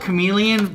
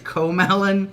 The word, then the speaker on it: Komelon: I call it Chameleon, but really it's Komelon. I believe it's Komelon.